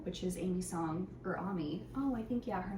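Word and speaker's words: Aimee: song of style which is amy's song or ami oh i think yeah her name is pronounced ami oh my goodness umi songs collection um it's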